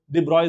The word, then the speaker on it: de Broglie: I think he's a French guy, right? So de Broglie is the way they pronounce it.